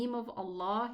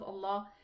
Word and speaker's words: Allah: The difference is that the lam in the name of Allah fills the mouth when it's elevated, while it's pronounced a normal lam when there is a kasra before it.